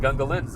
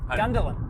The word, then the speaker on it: Gungahlin: And Gungalin's on the. Yeah. Is that how you say it? What? Gungalin. Gungahlin. Gungalin. Gundahlin.